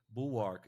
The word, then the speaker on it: Bulwark: I don't know how to pronounce it, but in America, it's a more common word because the Dutch in America, but it's Bulwark.